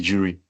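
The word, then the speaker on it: de jure: So that's this the jury authority or the juror authority. I don't know how some persons will pronounce it but I prefer calling it the jury.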